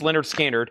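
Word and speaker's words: Lynyrd Skynyrd: And then we have one Leonard Skard pronounced Leonard Skard single LP $24.99.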